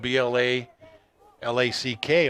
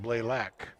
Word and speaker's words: Blalack: 45 is coleman blalack i hope i'm saying that right you know it's spelled bla l-a-c-k on the roster blalack i knew some blaylocks when i we were when we lived in another state but uh this looks like blaylack wyatt's story at quarterback